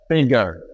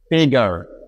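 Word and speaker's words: figure: আরও একটি নিয়ম এখানে দেখতে পাচ্ছি আমরা গত ক্লাসে যেটা বারবার শিখেছিলাম, যে শব্দের একেবারে শেষে যদি ই থাকে তাহলে ওই লেটারটির কোনো ধরনের উচ্চারণ হয় না।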